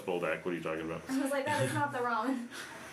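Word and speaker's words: Buldak: I'm saying it wrong. 3, Boldak. 4 nights? Boldak. I thought it was that. She's like, no, it's Boldak.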